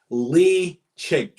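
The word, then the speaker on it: Ledaig: I don't really know how to pronounce. What's peated Tobermory called? Leitchig.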